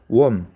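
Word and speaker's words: womb: 이 웜이라는 단어는요, B는 묵음이에요. 웜.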